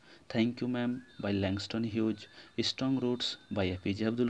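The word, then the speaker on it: Hughes: উচ্চারণ ঠিকঠাকভাবে করবে, উচ্চারণ এবং স্পেলিং এখানে কিন্তু একটু ডিফারেন্ট আছে। স্পেলিং হবে ল্যাংস্টন হিউজ, ল্যাংস্টন হিউজ। এবং লেখার সময় অবশ্যই দেখো এইচ ইউ জি ই এস আছে, উচ্চারণ কেমন হবে, হিউজ।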